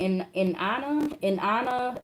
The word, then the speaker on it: Inanna: In Anna is spelled Inanna.